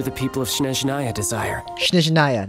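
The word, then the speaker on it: Snezhnaya: Shneznaya, that's how you pronounce that.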